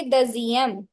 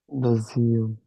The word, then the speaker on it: deuxième: ਇਹਨੂੰ pronounce ਕਰਾਂਗੇ deuxième. deuxième, étage, wheel, immobile, ascenseur, and entrée, J, Tejoa,